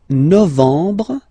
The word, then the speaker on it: novembre: Novembre, novembre, novembre. Okay, EM en novembre, novembre. And the last one.